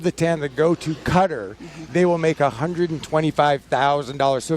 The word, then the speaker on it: Qatar: debate over the pronunciation whether it's Qatar or Cutter but talking with Boeing officials it is indeed cutter and I've always heard